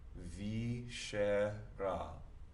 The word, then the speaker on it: viscera: This C is going to soften, and that's the only time we're going to apply that rule this semester. So it softens to an SH.